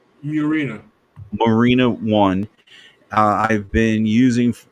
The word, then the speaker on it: Murena: But now the E Foundation has a phone of its own, the Marina. Well, how do you pronounce that again? Murena.